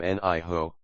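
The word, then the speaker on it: 你好: Two third tones become niho. Zixie. Thank you. Essential for polite interaction. The second is pronounced in the neutral tone.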